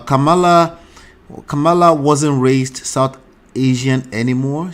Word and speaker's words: Kamala: Yeah, did you hear what that person pronounced? Is it Kamala or Kamala? It's Kamala.